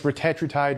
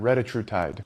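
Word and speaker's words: retatrutide: Yes, it's retatriide, not retatr. So, here's the deal. It's you can pronounce it either way. It's like vitamin or vitamin.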